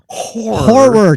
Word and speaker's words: horror: So if you're into horror, 2 syllables, horror. Horror.